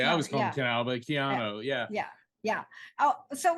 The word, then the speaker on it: Keanu: call-in show get your Virgo on I understand Canal Reeves is a Virgo um oh Kiana reads yeah okay I was calling Canal but Keanu yeah yeah yeah oh so let's just talk